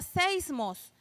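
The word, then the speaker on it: σεισμός: Entonces, la palabra, hermanos, temblor en el Apocalipsis se traduce como, viene de una palabra griega que se escribe y se pronuncia seismos, ¿verdad?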